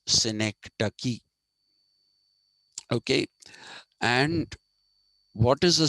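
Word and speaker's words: synecdoche: d o c h e ducky it's not pronounced syc do it is pronounced sinek ducky okay and what is a Sy ducky a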